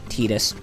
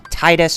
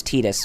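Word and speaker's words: Tidus: what little boy tetus has to tell us tetus and yes it's preferred it's pronounced like that I don't know why people are you know some people call him Titus or whatever but uh it's actually preferred as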